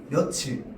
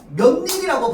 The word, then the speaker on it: 며칠: 며칠. 며칠을 선님 지난번에 얘기했죠? 며칠을 며칠이라고 발음하면 저렇게 적을 수밖에 없습니다. 몇일이라고 발음해야지만 이렇게 적을 수 있어요.